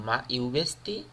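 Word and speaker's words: Mă iubești: Next, in Romana, মা ইউবেস্তি, মা ইউবেস্তি, উচ্চারণটা হবে এরকম, মা ইউবেস্তি।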